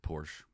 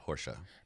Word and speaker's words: Porsche: It's a Porsche.